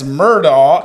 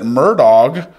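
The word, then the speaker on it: Murdaugh: Alex but they pronounce it Alec and it's murall and they pronounce at murdog yeah they say their name these guys they're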